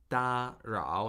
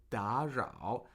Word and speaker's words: 打扰: couple notes, like in da rao, you pronounce that da rao, so you gave it a 1-3, but it should be pronounced as a 2-3. It's two consecutive third tones. Third tone sandhi, right?